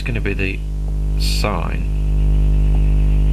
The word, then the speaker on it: sin: x equals s is sin of sign as we say it correctly now with that you